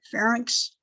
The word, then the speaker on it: pharynx: those words i i i think of sphinx when i say it and add that with it and then i say then i say it right pharynx and larynx the trachea